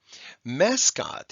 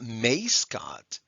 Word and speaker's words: mascot: followed by a d mascot it's not may scott we have a short a followed by an s invent it's not ein